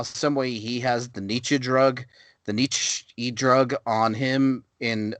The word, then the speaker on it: Nietzsche: Nietzsche. Nietzsche, yeah.